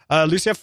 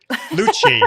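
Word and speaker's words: Port St. Lucie: I don't know whether I mentioned Tiffany, but hi everyone from Port St. Lucia. Have I pronounced that correct? In Florida. Lucci, there we go.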